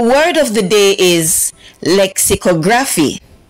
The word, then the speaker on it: lexicography: hi everyone our word of the day is lexicography say the word good job the word lexicography in syllables are l x Lex this eye is